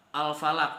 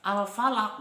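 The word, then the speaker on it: الفلق: Huruf qof qaf disitu Huruf apa Huruf Qalqalah maka cara membacanya yaitu harus di pantulkan zaman bacanya tidak dipantulkan seperti ini contohnya full a'udzu birabbil Falaq Hai minsyarimakholaq Nah itu salah yang bener itu full a'udzu birabbil Falaq oke nah you sorry makholaq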